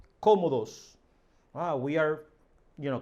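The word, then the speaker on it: cómodos: are very comfortable here nosotros estamos muy comodos comodos you see the the marked accent here comodos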